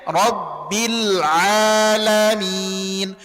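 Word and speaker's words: رب العالمين: Huruf ain di sini huruf ain termasuk kepada huruf-huruf tipis. Kesalahan umum yang sering terjadi banyak sekali yang menebalkan huruf ain. Dibacanya rabbil a rabbil a gak rabbil a. Senyum aja. Rabbil alamin. Kalau tebal ainnya biasanya lamnya juga tebal. Nah, itu hati-hati. Rabbil alamin. Jadi ala tidak ala tamam.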